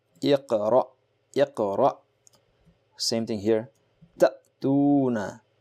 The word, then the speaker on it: اقرأ: If the hamza on which there is a jazm will be pronounced abruptly, very fast. Iqra, iqra.